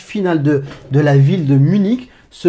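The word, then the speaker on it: München: Munich en français, en allemand, parce qu'on la prononce en allemand, pardon, on va prononcer le CH final comme un R. On va dire Munich.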